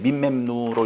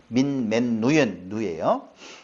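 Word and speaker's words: ממנו: 맨누가 아니 읽을 땐 민맨누로 읽어지는데 민맨누예요.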